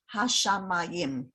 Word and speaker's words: hashamayim: Most of the time, the stress in Hebrew goes on the very last syllable. But if you notice, the trope mark is right under the mem, right? Right under the mem. That is telling you, put the stress on that syllable.